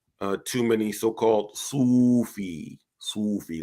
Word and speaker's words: Sufi: too many so-called Sufi Sufi that's how they pronounce it like s-o-o-f-e-e uh references right